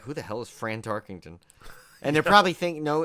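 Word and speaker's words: Fran Tarkenton: who the hell is fran tarkington and they're probably thinking no in in all honesty he's probably thinking they're probably all thinking we're just mispronouncing frank tarkington but no it is fran tarkin friend tarkington yes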